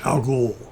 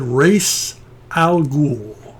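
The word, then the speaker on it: Ra's al Ghul: i was a kid i thought it was algol i don't know why i added the more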